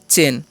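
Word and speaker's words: chain: और क्या है, तो लिखा हुआ है CH, CH से हो जाएगा च, और AI रहेगा ना, तो ध्यान दीजिएगा, AI रहेगा तो उसका उच्चारण क्या कर देना है, एक ले, तो हो गया चे, ठीक है, आया नहीं करना है, तो चे हो गया, एन से न, तो हो गया चेन।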